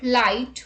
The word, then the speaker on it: light: GH is not pronounced when it comes after a vowel. Examples: thought, draught, through, thorough, borrow, daughter, light, might, sight, right, fight, wait, and wait.